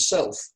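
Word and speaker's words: Selph: called the Citadel of Self. It's spelled S-E-L-P-H, but obviously it's a homophone.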